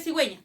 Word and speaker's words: cigüeña: ¿Con qué se escribe cigüeña? Con C, ¿no es cierto? Esa C está sonando como Z.